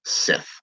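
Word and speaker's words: Sidhe: and the Irish, which the Irish name of the CD is actually pronounced Sith.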